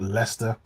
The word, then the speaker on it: Leicester: a a city called Leicester which is annoying because it's one of those UK cities that is pronounced completely differently t um and it's